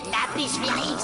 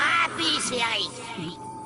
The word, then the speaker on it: Apis Feris: Ce n'est pas Lapis Feris, c'est Apis Feris.